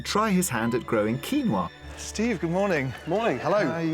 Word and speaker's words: quinoa: So I suppose the proper pronunciation is quinoa, but for me, I stick with quinoa. It's the more anglicised version.